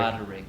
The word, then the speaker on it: Roderick: Roderick. All the syllables.